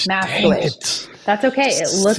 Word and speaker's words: Masikewich: It looks like Masikewich, how it's spelled, but it's Maskewich. So the I is silent. Maskewich.